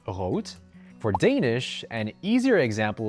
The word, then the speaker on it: rot: For example, the word red in German is pronounced as rot, and this is pretty much the same thing in Dutch where it's pronounced rot.